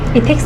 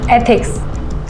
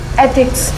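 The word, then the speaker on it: ethics: इथिक्स नहीं, एथिक्स ऐसे pronounce करो। एक बार बोल के बताओ। एथिक्स।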